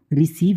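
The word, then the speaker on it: receive: हैं नेक्स्ट रू है जब किसी वर्ड में ई और आई आए तो उस ई और आई को हम क्या करते हैं बड़े ई से पढ़ते हैं जैसे कि जब क्या होगा यहां पर रिसीव है उसमें सी के बाद ई और आई आया है तो उसे हम क्या करते हैं बड़े ई से प्रोनाउंस करें जैसे कि रिसीव कंसीव या फिर डिसीव तो जब कभी भी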